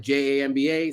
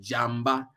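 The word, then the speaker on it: diamba: some people spell that j-a-m-b-a some people spell it d-i-a-m-b-a depends on how it's always pronounced the same it's pronounced like Jamba but you can pronounce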